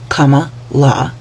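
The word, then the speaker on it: Kamala: that had comma and yes that is how you pronounce her name Comm La if Comm Harris had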